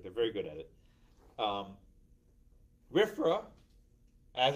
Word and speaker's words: RFRA: The Religious Freedom Restoration Act, RFRA, pronounced RFRA, right?